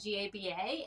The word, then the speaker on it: GABA: they do okay so i just pronounce it gaba to be honest with you because gamma amniobutyric acid